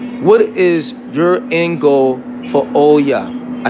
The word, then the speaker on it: Olla: let you go what is your goal for Oya I said it right right yeah what is your in goal for Oya my in goal for I don't think I